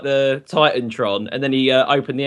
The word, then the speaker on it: TitanTron: He's like, Is it Tiatron or Titantron? Titantron.